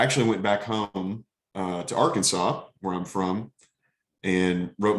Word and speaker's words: Arkansas: went back home to Arkansas, where I'm from, and wrote my dissertation there for a year. I think it's pronounced Arkansas. Thank you. For the correction.